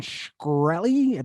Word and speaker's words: Shkreli: let's have the conversation but martin shkreli martin shkreli that's the pronunciation martin sure um that